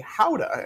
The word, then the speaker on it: gouda: of gouda is actually hauda and that's how they say it in the netherlands so uh for you